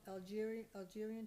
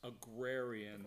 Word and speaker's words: agrarian: Under member input, Diane Plansky, is that how you spell Algerian Trust? I Okay. never knew how to say it. It's agrarian, I Agrarian. believe, and And I always have to look. I believe it's AGRARIAN.